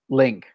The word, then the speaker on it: LingQ: LINGQ Link. LINGQ Lingq. Q. Lingq. Link Q. Yeah, pronounce it in English. It's Link.